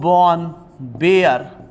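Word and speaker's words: Baer: देखिए कंफ्यूज होने की आवश्यकता नहीं है, वॉन बियर भी बोल देते हैं, बेयर भी बोल देते हैं, आप लोग प्रोनाउंसिएशन है अलग अलग लोगों का अलग अलग होगा, कोई वाज बोलता है,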